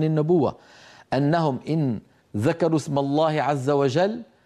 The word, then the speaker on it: الله: انهم ان ذكروا اسم الله عز وجل فان كان مسبوقا بفتحه او بضمه نطق اللام مفخمه وبالتالي الالف التي بعد